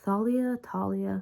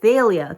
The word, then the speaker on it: Thalia: It was Talia. Thalia. They call her Thalia.